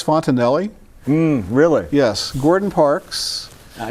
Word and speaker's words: Fontenelle: And he tells your viewer This is Fontenelle And I think you probably knew how to pronounce the name Sorry been pronouncing at Fontanel all all you know all night and I've